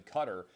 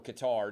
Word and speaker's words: Qatar: not mistaken down in qatar or qatar depending on how you pronounce it where are you speaking